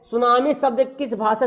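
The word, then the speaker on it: tsunami: सुनामी, देखिए लिखाते भी कैसे, देखिए टी सुनामी लिखा है, टी सुनामी, तो इसको पढ़ते हैं हम लोग सुनामी, टी को साइलेंट करते हैं, ये जापानी भाषा है, जापानी भाषा से लिया गया है, ठीक है ना।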